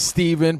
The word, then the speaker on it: Steven: My name is Steven, pronounced with an even.